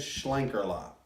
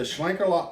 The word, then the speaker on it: Schlenkerla: some Google Translate and we think the pronunciation is Schlenker a lot now yeah it's the Shuang Carla Oaks mo which we've